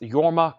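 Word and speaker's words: Jorma: Leslie West at 160 JMA K is pronounced yorma Co Conan yeah I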